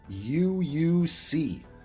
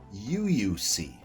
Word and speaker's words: UOIUXC: sponsored by um um i believe it's uuc i actually asked him how to pronounce this i was like oh my god how am i supposed to do a video if i can't pronounce this dang word i believe it is you you see um anyway um i